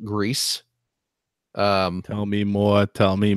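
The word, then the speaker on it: Gris: I did I picked up that new game grease for the switch is which I have received confirmation that it is pronounced grease tell me more tell me more it's the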